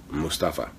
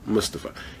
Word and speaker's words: Mustafa: It's Mustafa or Mustafa. Really, it's up to you. However you feel like saying it, you know.